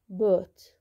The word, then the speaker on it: bought: هنا بوت، بوت التصريف الثاني من باي، بوت اشترى. طبعا الجي والاتش ها هاي هون تكتب ولا تلفظ.